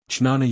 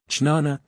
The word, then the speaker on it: jnana: Jnana Yoga. Jnana, jnana or jnana, yoga, as it is pronounced in different parts of India, is the yoga of knowledge.